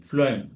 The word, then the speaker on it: phloem: chlorophyll photosynthesis process and food how you remember this is flim just like a food so similar kind of pronunciation you can see phm so something like